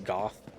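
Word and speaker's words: Gough: I would believe that that guy's name is Goth, pronounced to rhyme with cough.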